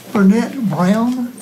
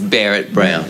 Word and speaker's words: Barrett Brown: Burnett Brown, am I pronouncing that correctly? Not quite, but that's close enough. Correct. Please correct me. It's Barrett Brown.